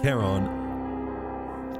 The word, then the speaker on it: Charon: It's Greek. It might be Charon. Wait, hold on. Come on, please. Please load. King clear names in English. Meaning of keen gaze. How do you go about pronouncing it? We're halfway through the video and you haven't told us. I hate this. Reference in Greek, this is said as charon. It is usually pronounced as Charon.